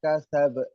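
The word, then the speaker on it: كسب: Di situ kan ada tasdid. Tadi bacanya watab ditekan terus baru memantul. Ini enggak ada tasdid. Wa ma kasab. Be-nya itu jelas. Wa ma kasab. Qalqalah kubra.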